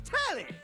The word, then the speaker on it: Tally: The name's Tally. Rhymes with Nelly.